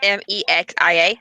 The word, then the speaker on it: Mexia: My favorite is Mejia because it's Mexican and it's Mexia. Mejia. And then a lot of people mispronounce Oregon.